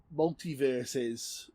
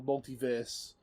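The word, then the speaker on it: MultiVersus: I've been playing Multiverses, or Multiverse. Yeah, that's how it's pronounced, Multiverse.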